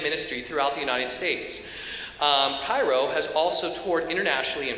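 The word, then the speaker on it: Chi Rho: its music and ministry throughout the United States pyro has also toured internationally in France and in a missionary role in Zambia the group's name which is pronounced Cairo is formed by the first two letters of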